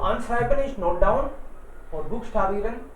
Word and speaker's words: buchstabieren: Can you please buchstabieren का मतलब है to spell, spelling बताना। to spell का मतलब है किसी चीज की स्पेलिंग बताना। buchstabieren, buchstabieren, बुक ch को ख बोल रहे हैं हम लोग, buchstabieren, buchstabieren मतलब स्पेलिंग बताना।